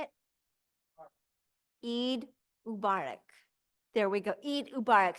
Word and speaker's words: Eid Mubarak: Eid Mubarak.